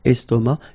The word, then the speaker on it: estomac: Okay, same thing here, final C not pronounced, and then M means that this word, estomac, is masculine.